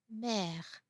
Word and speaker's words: mère: For example, mère, mère. You have to open the mouth a little bit more.